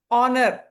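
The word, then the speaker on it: honour: இந்த ஹெச் வந்து சைலண்ட்டுங்க. நம்ம நிறைய கரெக்டாக தான் ப்ரொனவுன்ஸ் பண்ணோம். ஹாஃபுக்கு ஹெச் பண்ணுவீங்க, ஆனா அவருக்கு ஹெச் வராது. ஆனர், அவர், ஆனருக்கும் ஹெச் வராது. ஹெச் ப்ரொனன்சியேஷன் கிடையாது, சைலண்ட். ஆஸ்க் சொல்லும் போது கூட அந்த கொஞ்சம் மாறும் இல்லையா?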